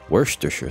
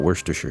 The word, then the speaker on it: Worcestershire: It's not Worcestershire sauce. It's like there's a lot of syllables there that are not supposed to be pronounced, so it's like Worcestershire sauce, right?